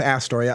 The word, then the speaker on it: Astoria: what I can folks it's Astoria because it's not a Storia John Jacob user was